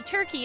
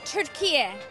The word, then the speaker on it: Türkiye: I say Turkey and you say? I say Türkiye. Türkiye. Türkiye. Türkiye. Now everybody says Turkey, which is not correct.